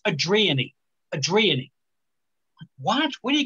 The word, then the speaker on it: Adrian: d r i a n that's adrian right adrian i said hey adrian i don't know it's adrienne adriani what where do you get that i